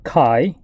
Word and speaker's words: chi: So first, this symbol here that looks kind of like an X is actually the Greek letter chi. So it's spelled C-H-I, and this notation you read as chi-square, right?